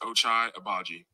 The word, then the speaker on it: Ochai Agbaji: People that don't know my name and how to say it, it's pronounced Ochai Agbaji.